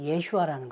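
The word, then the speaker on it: ישוע: 그러나 원래 예수님의 이름은 히브리식 발음은 예슈아라는 것을 기억하시고 어 접근해 주시기 바랍니다.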